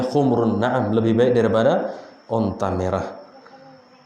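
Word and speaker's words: حُمْرُ النَّعَم: Bacanya humr ya, bukan khumurun. Ka'annahum khumurum mustanfirah. Kalau humur itu keledai. Kalau khumrun onta merah.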